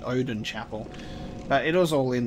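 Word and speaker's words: Oedon Chapel: erden chapel and I'll Odin Chapel that's such an interesting pronunciation I'm going Odin Chapel but it was all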